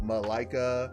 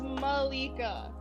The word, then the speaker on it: Malika: too it's not like it's not like malaika or whatever say which chest oh man it's malika i could not believe